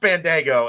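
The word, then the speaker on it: Bandaogo: is the refs called it's not spelled like it's pronounced it's pronounced Bandago and it is not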